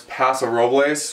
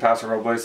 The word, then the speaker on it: Paso Robles: the other one lives down towards Paso Robles, or Paso Robles, depending on how you pronounce it. I think Paso Robles is the least we can do for the Spanish influence here in California.